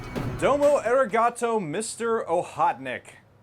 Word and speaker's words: Okhotnik: it should be pronounced ohotnik I I think the K is a little silent in Russian and I'm pretty sure